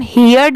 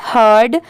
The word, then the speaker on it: heard: HEARD, इसे हम हियर्ड नहीं पढ़ेंगे, इसकी प्रोनाउंसिएशन है हर्ड।